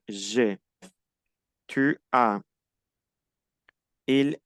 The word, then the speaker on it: j'ai: Ahí se pronuncia E. J'ai.